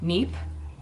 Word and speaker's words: Kneipp: This is from, I never know how to pronounce this name, Neep. It has a K, but I'm assuming the K is silent. Neep. I'm gonna say Neep.